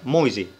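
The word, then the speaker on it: Mäuse: لكن لو حرف الآ فوق منها أوملاوت وجه بعد منها أو بتتنطق أوي، يبقى الكلمة دي بتتنطق مويزي.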